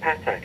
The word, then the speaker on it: Pathak: year's edur FR shows I've been pronouncing it patac is that wrong uh no that's a very English way of doing it so that's not wrong at all there's only one way